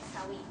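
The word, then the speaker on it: Samhain: s a m h i n but it's pronounced sa okay sawi so this holiday was a festival okay a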